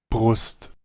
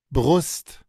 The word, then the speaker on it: Brust: Vamos al German y miren, sí, podría oírse parecido, pero lleva esa ah. La R francesa. Siempre que encontremos esta R así de cabeza mayúscula, es la R francesa Brust, o la R gutural.